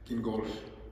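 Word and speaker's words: Gingolx: called, I'm sorry, I didn't learn how to pronounce this beforehand. Do you mind just speaking it for us? Gingolf.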